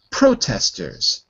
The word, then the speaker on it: protesters: we have um uh protesters first syllable protesters protesters good not protesters because Pro protest to protest okay yeah it's always the first syllable it's always the first